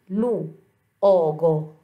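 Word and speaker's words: luogo: هنا لو أوغو، لوغو، لوغو، ننطق الحرفين المتحركين أو أو.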